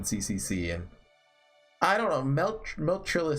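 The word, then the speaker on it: Meltryllis: Oh yeah, it is pronounced Meltrillis, by the way.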